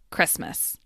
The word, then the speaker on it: Christmas: The T in Christmas disappears to become Christmas.